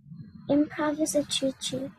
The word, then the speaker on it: improvisatrice: Improvisatrice.